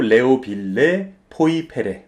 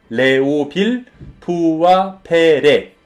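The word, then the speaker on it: Léoville Poyferré: 이 와인 같은 경우도 잘못 읽으시면은 샤또 레오빌레 포이페레 뭐 이런 식으로 읽으시는 분들이 있는데 절대 아닙니다. 우리 발음으로 하시려면은 샤또 레오빌 푸아페레라고 읽으세요.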